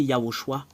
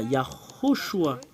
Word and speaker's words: Yahushua: Voilà, c'est Yahushua. Yaho. Je vais le réécrire à l'original. Ho. Shua. Voilà le nom original. Comment l'écrire? Yahoshua.